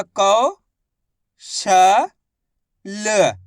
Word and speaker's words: कौशल: ऐसे नहीं पढ़ना कौशल। कौशल पढ़ोगे तो इस तरीके से ओ की मात्रा का उच्चारण हो जाएगा। जबकि अपन औ की मात्रा पढ़ रहे हैं तो क करके उच्चारण करेंगे।